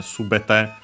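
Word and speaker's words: 全て: Why? Then it becomes by making this noun with the T form of the verb. Not typical, but sometimes it happens. Uh the accent moves on the uh third to last syllable.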